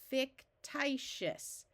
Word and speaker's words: fictitious: This syllable has a vowel in the middle, which means it's closed, so we try the vowel's short sound. This is an open syllable with a vowel at the end, so we try the long sound first.